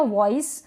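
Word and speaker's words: voice: इसलिए फिर ये है वॉइस वी का व और यहां पर लास्ट में ई आएगा तो उसको हम प्रोनाउंस नहीं करेंगे वॉइस वॉइस वॉइस का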